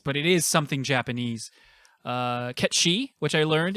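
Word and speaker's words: Cait Sith: Ketshi, which I learned. It's not Kate Sith. It's actually some sort of Welsh or like Celtic name, and it's pronounced Ketshi.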